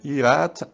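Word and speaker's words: יראת: em hebraico eh a pronuncia Hebraica é irat Adonai resit daat então é são quatro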